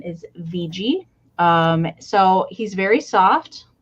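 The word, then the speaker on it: Wiggi: is spelled w-i-g-g-i but in German W's are pronounced as V's so his name is VG um so he's very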